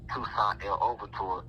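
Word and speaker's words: Toussaint Louverture: In my last incarnation, I came to this planet as Toussaint El Overture, and I'm just pronouncing it like that for those who are over here in America. That pronunciation is more of a French pronunciation, and when pronounced correctly,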